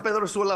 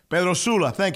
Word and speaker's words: San Pedro Sula: I was born in San Pedro Sula, Honduras. Yeah. Yes. Pedro Sul, Honduras, right? Pedro Sula, yeah. Pedro Sula, thank you.